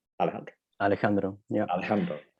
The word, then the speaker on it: Alejandro: So that's why I know how to say Alejandro. Alejandro. Yeah. Alejandro. The J is pronounced like in Dutch to say like a G, like Alejandro.